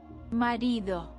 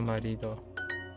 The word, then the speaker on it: marido: Marido. Oh, Marido. Ah, I put the accent on the wrong place.